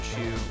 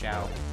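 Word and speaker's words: Shou: I think it was like Robin Shu, or is it pronounced Shao? I've always heard it Shu.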